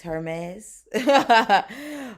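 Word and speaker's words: Hermès: Is that how you say it? Hermes? It's Hermes. Okay.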